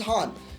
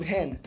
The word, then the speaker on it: Han: The pronunciation is Han, but Lando insists on calling him Hen, which irritates even the character in the film.